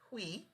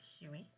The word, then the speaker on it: Hui: So first, I realized I pronounced her name wrong. It's Hui, not Huey.